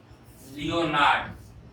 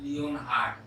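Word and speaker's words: Leonhard: हम फिर से रिपीट कर रहे हैं, लियोनार्ड, नॉट लियोनहार्ड, लियोनार्ड Euler, and this is transcendental, n is silent, transcendental।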